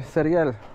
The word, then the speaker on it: cereal: In Spanish, if you want to say cereal, you say cereal. See that? Repeat after me, everybody. Cereal. Which is just cereal. It's spelled with an accent.